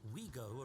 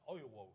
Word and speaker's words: Ouigo: Then Ouigo arrived in Spain in 2020, in the middle of the pandemic.